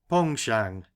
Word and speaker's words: penchant: for fishing heavy sides that's a French word begging your pardon Mr barsley and pronounced pong Shang you see in the